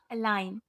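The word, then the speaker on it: align: का दूसरा रूल है जब जी के बाद एन आए तो जी साइलेंट होती है जैसे एस आई जी एन साइन ए एल आई जी एन एलाइन A double S आई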